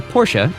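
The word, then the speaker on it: Portia: Given that her wife's name, Porsche, is pronounced almost identically to the German auto company, it is unlikely that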